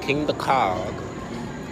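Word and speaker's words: Kingda Ka: just finished eating we about to go on king the cog that's how you say it but last time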